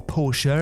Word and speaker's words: Porsche: weasel Sully Sully Swanky yellow Porsche or porser if you want to pronounce it like that is left thoroughly